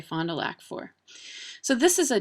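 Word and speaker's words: Fond du Lac: such a pretty name there are a lot of mispronounced French names around here Fondulac uh which we say fond toac for so this is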